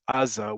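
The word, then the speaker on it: עזה: easiest answer is that in Hebrew it's Aza with an ayin. In Arabic, it's Gaza with a rein, And in English, it's Gaza. Rein is a letter that in Arabic is simply the same version of ayn, written with a dot on top of it. So first off, the words in Hebrew and Arabic for that part of the region are the same word. It's just pronounced slightly differently, but essentially with that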